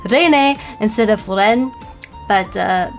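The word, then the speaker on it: Reine: They actually had both Kiara and um uh Pavlia Rene whose name I always want to pronounce as uh Ren which means queen in French because I speak French.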